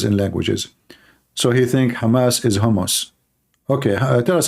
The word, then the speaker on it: Hamas: Trump he do not know how to say the word Hamas. He called him Hamos. He just called Hamas Hammus. Hammos. What? Hamas. Okay.